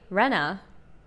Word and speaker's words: Rena: Oh, how do I pronounce the name? My name? Rena. Rena. Rena.